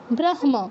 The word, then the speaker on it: ব্রহ্ম: উচ্চারণ করতে হবে কিরকম নিয়ম অনুযায়ী এটা হওয়া উচিত ছিল কি ব্রহম ব্রহ্ম এরকম কিন্তু মটা আগে উচ্চারণ হবে যেহেতু ম এই পাঁচটার মধ্যে পড়ছে কি হবে ব্রহ্ম ব্রহ্ম ঠিক আছে্যা একদম ঠিক তাহলে